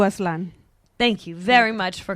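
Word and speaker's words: Aztlán: Those were 2 tracks off of 7 October's sophomore album, From Chihuahua to Atlan. Am I saying that decent enough? Close enough, yeah. Say it correctly. From Chivalba to Aslan.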